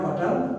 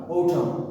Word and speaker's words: autumn: autumn, নট অটাম বাট autumn। মনে থাকবে আজ থেকে, আজকের পর থেকে আমরা কিন্তু আর বলবো না অটাম, কি বলবো?